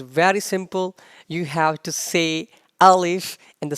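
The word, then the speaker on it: ثاء: letter gonna be the sa has three dots and the pronunciation of sa is the don't make whistle sound and the sub pronounced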